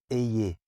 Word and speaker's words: Èhiè: Alors, la prononciation, c'est ayez. Ils ont écrit ici E accent grave, H, I, E accent grave. Mais c'est de manière justement à garder la bouche ouverte.